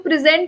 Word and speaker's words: present: as a verb here when i'm talking about as a verb then i will be stressing on the last syllable on the last four letters but when i'm using present as a noun or i'm talking about presentation okay then i will be stressing on the first part of the word okay